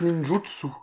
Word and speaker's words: ninjutsu: une pizza en retard visiblement ça se prononce ninjutsu ninjutsu c'est moche c'est comme